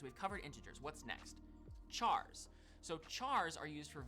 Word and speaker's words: char: Chars. So chars are used for variables that will store single characters. Char, short for character. Some you might hear people pronounce it as car.